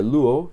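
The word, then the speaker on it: λύω: Este verbo luo se pronuncia luo.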